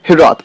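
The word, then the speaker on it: hiraeth: The pronunciation of this word has got different origins, but I'm going to just focus on hirath.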